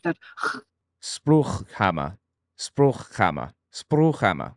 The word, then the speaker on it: Spruchkammer: It's Spruchkammer. That's the fricative. That Spruchkammer. Spruchkammer. Spruchkammer.